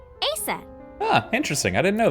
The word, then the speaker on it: Aset: but in ancient Egyptian, it's pronounced closer to Ise or Aset.